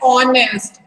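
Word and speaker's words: honest: ऑनेस्ट। ओ से sound आ रहा है, एच साइलेंट है, तो हम यहाँ पे क्या यूज करेंगे?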